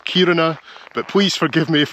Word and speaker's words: Kiruna: City in Sweden now I think I've been saying it wrong I've been calling it kiruna but the stress should be at the start of the word so it's kiruna but please forgive me